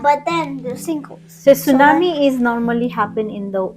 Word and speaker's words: tsunami: happen what is that Tsunami Tsunami it's it starts with the T but the t is silent yeah and sink hles